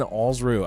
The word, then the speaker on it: Alsruhe: you were just to think of it as rhyming with balls blue, you would get it every time.